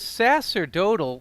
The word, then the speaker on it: sacerdotal: Is that like how you pronounce it? Is sacerdotal, the C an yeah. S sound? Oh, okay.